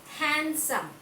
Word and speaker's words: handsome: Handsome. H-A-N-D-S-O-M-E. Handsome. It's handsome. What is silent here? Excellent, children. D. D is silent. D is silent. We should not pronounce D sound.